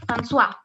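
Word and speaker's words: François: no other name like francois you spell it like this frank francois okay but you do not pronounce the s the s is silent completely silent in in french okay so when we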